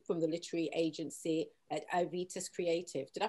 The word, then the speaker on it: Aevitas: We have Natalie Jerome from the literary agency at Aevitas Creative. Did I pronounce that right?